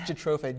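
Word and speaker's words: Jatropha: Um, well, in biodeiesel, uh, there's a plant called Jatroofa. It's grown in Africa, India. How do you spell that? It's Jatroofa. J A T R O P HA.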